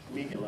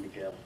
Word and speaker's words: Miguel: Miguel, okay. My daughter tells me I should pronounce Miguel like that rather than Miguel.